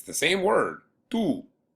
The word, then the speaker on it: tú: When I'm saying your and I'm writing it, it doesn't have an accent. But other than that, it's pronounced exactly the same. Tú juegas fútbol con, if